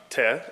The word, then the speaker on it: Teh: It's pronounced Teh, and so I think the kind of the